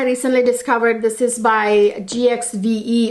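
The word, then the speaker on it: GXVE: discovered this is by gx ve or give is how you pronounce it supposed to pronounce it anyway this is by gwen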